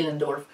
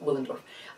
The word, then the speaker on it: Willendorf: an accent but uh in german it would be dinendorf in english of course it's w willendorf uh well so either pronunciation is um is fine but um well obviously